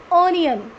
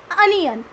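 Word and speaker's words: onion: नो, नो, इट्स नॉट ऑनियन, इट्स अनियन. अनियन, अनियन.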